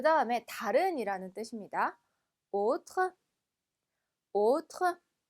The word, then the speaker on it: autre: autre, autre. 아의 붙어서 오 발음 나는 거 기억나시죠?